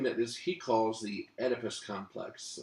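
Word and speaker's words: Oedipus: is he calls the edus complex it's spelled o e d i p s edus and um what he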